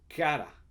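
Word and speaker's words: χαρά: en este caso y es la palabra cara cara o se escribe ch la che silenciosa y cara y en el contexto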